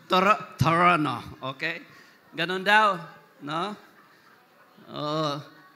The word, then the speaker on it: Toronto: The right pronoun pronunciation daw is Torono. Toronto. Torono.